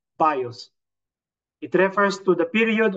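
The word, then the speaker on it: βίος: The bios, and the soke or psyche, and then the zoe, or today we pronounce it zoe.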